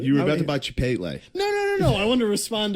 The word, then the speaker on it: Chipotle: You were about to buy Chipotle.